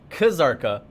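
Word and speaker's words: Kzarka: zurk ER is busier kazarka and i saw it in chat the k is not silent because it's not a translation from korea it's a transliteration you pronounce all the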